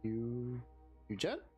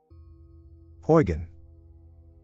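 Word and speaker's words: Huygens: How do I pronounce this? Eugen? Huygen.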